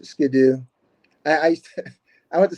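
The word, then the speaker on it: sgian-dubh: yeah it's a little sko or however you pronounce it yeah it's it's Skidoo I used I went to Scotland I'm like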